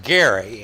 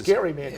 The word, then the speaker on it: Gerry: Massachusetts he was actually his name is pronounced Gary and he was a Nigerian yeah it was Gary well it's called gerrymandering